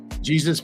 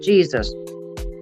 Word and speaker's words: Jesus: And yes, he actually says he does not pronounce it Jesus. He pronounces his name Jesus. Because he said Jesus is Spanish. He speaks English, so he pronounces it Jesus, not Jesus.